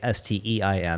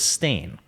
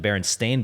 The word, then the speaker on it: Berenstain: So most people, when asked, I think 85% of people will say it's STEIN, the way you would normally spell that last name, but it was Stain, right?